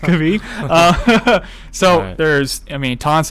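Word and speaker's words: Krabi: to be going to it could be or crabby is we were made fun of for calling it i guess it's properly pronounced could be so there's i mean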